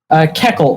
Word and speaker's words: Keckle: Keckle, it's Transylvanian. Oh, okay, Keckle.